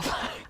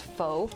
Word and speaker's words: pho: i had no idea pho was pronounced fa i used to pronounce it as faux i like that that